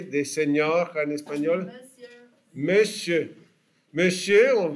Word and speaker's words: monsieur: Monsieur, on prononce monsieur, mais ça s'écrit monsieur.